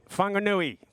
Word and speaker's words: Whanganui: Whanganui. Thank you. Who said that? Hand up. Thank you, brother. Jeez, he's covered up too. Look at the headdresses now. I told you, it's Whanganui, the man with no face.